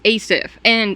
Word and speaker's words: Asif: was a joke because his name is Asif, but it's spelled A-S-I-F. So I thought it was just as if, so I thought it was like a fake kind of Facebook.